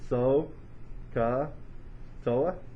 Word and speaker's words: SOHCAHTOA: most people like to think of this as so ka toa so if you were to spell that out would be so fella and so that's what i remember when i think about it sohcahtoa i've also heard some old horse caught another